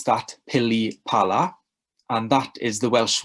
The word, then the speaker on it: pilipala: that starts with the letter p so you pronounce that pilipala and that is the welsh word for any